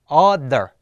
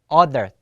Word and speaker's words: other: 발음 어떻게 한다 그랬어요 드를 갖다 발음하는데 혀를 양 이빨로 문 상태에서 가볍게 문 상태에서 그래서 어 other 어 other 자 같이 해보죠 other other 자 요것은 어와 아의 중간 발이죠 other other 자 그래서